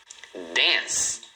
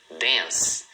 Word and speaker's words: dance: Dance. Então você olhando parece que são duas, mas na verdade é uma só. Então esse C do final você pronuncia como se fosse um S, tá?